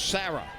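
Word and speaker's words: Cera: game Lynn Sarah spells her first name c e r a pronounce Sarah the 02 she tried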